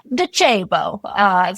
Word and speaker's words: Docebo: It's, as my former head of content said, Docebo. So it is an Italian-based or Italian-founded company. So great job on the pronunciation.